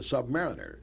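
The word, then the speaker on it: Sub-Mariner: himself not to mention Captain America and the Submariner right or is a submar Submarina you said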